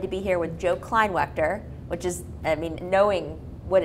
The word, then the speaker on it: Kleinwaechter: I am so excited to be here with Joe Kleinwaechter, which is, knowing what it's like to say somebody's name wrong or right, I feel good.